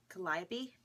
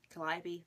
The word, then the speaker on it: Calliope: oh, my mom told me how to pronounce this. Calliope, Cricket, Calliope, Lola.